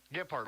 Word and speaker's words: Gilbert: Is that how you pronounce that name? Gilbert, okay, yeah.